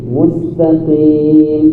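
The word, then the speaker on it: مستقيم: Mustaqim bacanya mustaqim.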